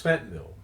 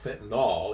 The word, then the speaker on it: fentanyl: Uh, it's kind of funny because it's F E N T A N Y L. That's how it's spelled, but you'll hear people pronounced it if it as if it ends in O.